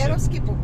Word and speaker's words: Yeroskipou: Yeroskipou, correct. Yes. Well done, you. Yes. My pronunciation of some of the names is quite good.